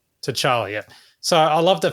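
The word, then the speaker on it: T'Challa: Tala. Tchala.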